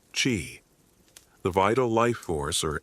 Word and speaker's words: Qi: The prevailing philosophical framework was that of Yin and Yang, the complementary forces that govern all existence, and Qi pronounced Qi, the vital life force or energy that flows through everything, including the human body.